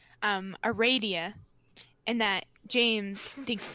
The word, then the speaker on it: Aradia: It is pronounced Aradia. The Confirmed. funny, did you see what James posted? Maybe. That James made sure everybody knew that Andrew Hussey says it's Aradia, and that James thinks it's fucking stupid, and